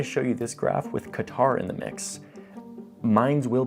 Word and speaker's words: Qatar: of our puzzle, Qatar, a country that should be pronounced Qatar, but I'm not gonna be that pretentious guy who shows up trying to like say it in the local pronunciation because it makes me sound cultured and cool. I am that guy, I'm trying to not be that guy. So for now, I'm just gonna say it like a Texas oilman says it, Qatar, okay?